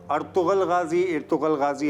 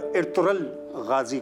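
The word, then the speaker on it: Ertuğrul: इर्तुगल नहीं, सही भी कर रहे हैं, लेकिन मैं जहाँ सही कहा है वो बता रहा हूँ। अर्तुगल गाजी आप कह सकते हैं, लेकिन जो टर्की है उसमें गैन जो है वो साइलेंट हो जाएगा और इर्तुगल गाजी कहलाएगा ये।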